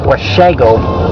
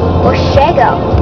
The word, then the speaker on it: Washago: I got last year's, Washago sounds like wasabi. Yeah. It's pronounced Washago. Washago.